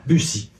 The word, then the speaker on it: Rue de Buci: Buci. Buci. Rue De Buci. Yes, thank you. hard to try to pronounce it right.